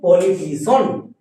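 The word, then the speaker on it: politician: থাকলে টি আশা করি বুঝতে পেরে যেমন দেখ পলিটিশন পলিটিশন এটা হচ্ছে আমাদের সঠিক এবার দেখ অনেকে আবার এই ওয়ার্ডটাকে উচ্চারণ করে পলিটিসিয়ান আমরা সিয়ান উচ্চারণ করব না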